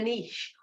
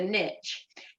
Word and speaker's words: niche: That means that you've found your niche, and it's all about the niche, or as the Americans say, the niche.